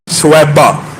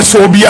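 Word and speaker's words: ثویبہ: سویبہ، جس کو بعض اردو دان کم علمی کہہ لیجئے یا عربی تلفظ سے ناآشنائی کہہ لیجئے صوبیہ کہتے ہیں۔ صوبیہ اور سویبہ میں زمین آسمان کا فرق ہے۔ ان کا اصل نام سویبہ ہے، یہ ابو لہب کی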